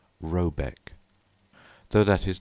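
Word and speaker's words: Råbäck: to be called RAB a e c k pronounced something like robc though that is not its name it is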